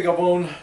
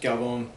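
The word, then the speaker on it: Galvão: a video called Andre Gabon doing dumb in the gym. Apparently, he's pronounced Galbone. Um, and I appreciate to someone that pointed out to me that I was mispronouncing it.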